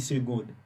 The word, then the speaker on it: seconde: On dit seconde. Mais c'est SEC.